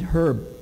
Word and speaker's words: herb: Right now, I have to catch up with my friend Herb. I just learned in science class today that in the word herb, the H is silent.